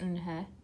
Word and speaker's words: Unha: It's pronounced Unha, and it means grace," Mr.